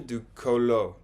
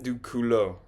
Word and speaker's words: culot: Euh, Elle a quand même du colo. Du colo. La prononciation me fait beaucoup de problèmes. Toujours. Elle a quand même du culot.